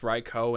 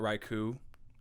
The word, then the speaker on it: Raikou: with the fact that it's pronounced reiko and not raiku is it's so heartbreaking to me they're not dogs and i have to call it raikou absolutely not but yeah